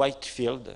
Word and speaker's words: Whitefield: Alors, à l'époque, il y avait aussi un certain Whitefield, ou Whitefield, si on veut mieux prononcer, comme un champ blanc.